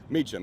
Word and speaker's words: Meacham: Meacham, yeah, it's like 10 minutes.